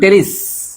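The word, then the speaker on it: Pteris: আমরা শুরু করবো আমাদের সেকেন্ড পার্ট নাম হলো টেরিস নাম কি টেরিস বেশি জীবন ভালো না আর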